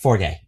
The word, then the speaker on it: Fargeat: Coralie The last name is uh pretty sure it's I'm pronouncing it Fargeat, but I think it's It's f a r g e a t. Is that Fargeat? Fargeat? Fargeat. Yeah, Fargeat. Fargeat.